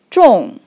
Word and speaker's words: 众: So it pronounced like 众.